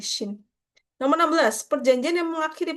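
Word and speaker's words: 清: C-nya itu sin-nya itu maksudnya Ching ya, dinasti Cing yang saat itu. Jadi itu kalau di Mandarin bacanya cing. Kalau Jepang jadi shin.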